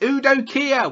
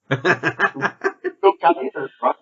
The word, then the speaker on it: Udo Kier: It's Udo Kier. Why can't you say his name? Because I said it like that because I did it on purpose. Udo Kier.